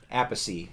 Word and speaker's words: Appice: I said a piece at first, but it's Appice, right? Okay. Is how he likes to pronounce it.